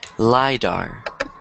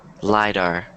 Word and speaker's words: lidar: a weird word so one more time lidar wider my door lie back uh-huh all right how